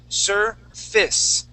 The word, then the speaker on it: surface: ass surface we say surface it's a short I sound with an S sound surface surface excellent okay